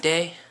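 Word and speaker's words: Dey: Good day in the neighborhood. This has been your friend on YouTube, on YouTube, which you're watching right now. Day, like T-H-E-Y, but it's spelled D-E-Y, no, Day no, and I'm out.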